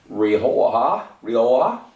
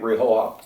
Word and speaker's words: Rioja: It is 16 years old, cured in Rioja. I think that's how we pronounce it.